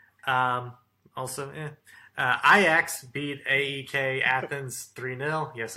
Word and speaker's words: Ajax: Group E, also Ajax beat AEK Athens 3-0.